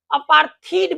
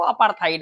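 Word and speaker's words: apartheid: रंग भेद, रंग भेद, इसे बहुत लोग अपार्थीड भी पढ़ते हैं, तो कंफ्यूजन का कोई चांस नहीं है। अपार्थाइड भी इससे कहते लेते हैं, अपार्थीड एक्चुअल प्रोनाउंसिएशन जो है वो अपार्थाइड है।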